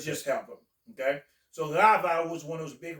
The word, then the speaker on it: Rava: Rava, one of the big rabbis in Pronounce that again.